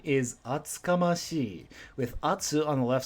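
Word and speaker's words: 厚かましい: Atsukamashi. Yakamashi is very similar in pronunciation. Instead of ya, you've got atsu.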